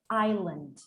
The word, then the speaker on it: island: into the english language the s it was pronounced but then it evolved and we didn't pronounce it anymore la such as the word island island island island island